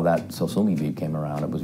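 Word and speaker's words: Sosumi: And then I thought, that's actually the right name. I'll just have to spell it funny. So I spelled it S-O-S-U-M-I, and then I said, it's a Japanese word, it doesn't mean anything musical.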